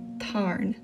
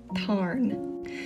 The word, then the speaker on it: Tarn: And in the book it's quite often shortened to Tarn. Tarn.